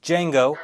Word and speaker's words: Django: Django, The D is silent.